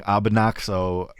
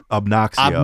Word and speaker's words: Obnoxio: We missed Otto today, but I want to thank you for taking his place by mispronouncing Abonaxo this whole show. It's Obnoxio. Obnoxio. Not like Abonaxio.